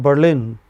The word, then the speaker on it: Berlin: A city called Berlin is stressed on the final syllable.